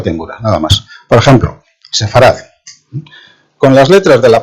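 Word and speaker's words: ספרד: de derecha a izquierda la que tenéis más a la derecha es la letra Sam se pronuncia como s luego la letra p se pronuncia en este caso como F puede adoptar los dos sonidos p y F luego la letra res sonido de r y la última es la letra tet sonido de d y eso se le sefar sabéis que en hebreo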